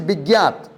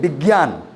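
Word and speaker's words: विज्ञात: His name is Bigyat. And he said, sir, people always call me Bigyan. I was very angry. His name is Bigyat, unique name.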